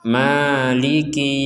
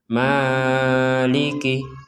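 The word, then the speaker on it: مالك: panjang dua harakat saja Jadi tidak boleh Dar tidak boleh lebih dari itu jadi kita membacanya maiki yaumiddin Jangan sampai dibaca Maliki Maliki itu kepanjangan maiki yaumiddin kita lanjutkan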